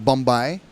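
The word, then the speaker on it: bumbai: It's not a Hawaiian word because there's no B's in the Hawaiian language, but Bombay. Bombay. Some people spell it B-U-M-B-Y-E like goodbye, but I believe it would be A-I. B-U-M-B-A-I. Bombay.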